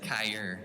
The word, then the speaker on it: Kyrie: My name is spelled Kyrie, but it's actually said Kyre, K-Y-R-E.